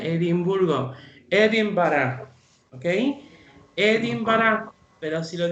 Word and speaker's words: Edinburgh: Presten atención a cómo se pronuncia Edimburgo. Edinburgh, okay? Edinburgh, pero si lo digo rápido es Edinburgh.